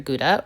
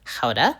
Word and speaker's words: Gouda: Today we'll be using up the last of this Beamster Guda or better said Koda.